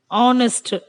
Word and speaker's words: honest: Here, honest, H silence, and we have to consider O as a first letter.